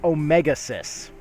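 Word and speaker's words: Omega-Xis: who never figure out how to pronounce his name his proper english name is omega sis his japanese name makes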